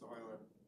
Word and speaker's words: Euler: It's Euler. Euler, all right, yes. So these Euler angles. Oops. Zero. So we're basically going to flip that chip around so that this Euler angle, right, is going like this with it.